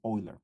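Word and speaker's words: Euler: bucking iler bucking theory forgive me if I don't pronounce it oiler because German would be pronounced oiler bucking in theory just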